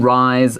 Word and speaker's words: rise: Yeah, 没错，我们今天到了这个科技新知的单元 Technology。我们今天要介绍的主题也是前一阵子一直到现在都非常非常热烈讨论的，就是人工智慧。可能各位你们有玩过 Midjourney 这种绘图生成软体，或者呢你有可能玩过这个 ChatGPT 这样子的这种聊天软体，对不对？那你对我们今天的主题一定会特别感兴趣。我们来看一下我们这个 title，我们的标题The sudden rise of AI art。好，中文的话标题是人工智慧艺术的异军突起。这边的 the rise of something，好，就是指突然越来越红了，或者是突然之间崛起了这样的感觉。虽然是 R-I-S-E，但这个 S 的发音是 Z，rise of something。